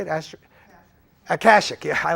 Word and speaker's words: Akashic: We're going to go to the Ashikik. Is that how you say it? Akashic, yeah, I like the Akashic.